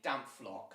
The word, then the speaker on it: Dampflok: Spyro will just put it in the chat so you guys know how to spell it. Thank you, Spyro. That's how you say Dampflok.